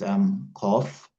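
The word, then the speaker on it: قاف: In the same way, Qaf and Kaf are also different letters, so we must learn how each one is pronounced and how each one is written.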